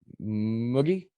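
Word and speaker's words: mugi: pronounce that right um i think it's spanish think of it as spanish muggy i'm not very good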